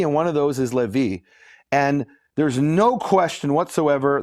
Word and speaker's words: Levi: Now, according to the Yemenites, they don't pronounce it Levi, they pronounce it Lewi. And Lewi doesn't rhyme with Navi.